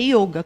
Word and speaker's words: yoga: A pronúncia correta, pela transliteração do sânscrito para o português, é yoga, com o O fechado.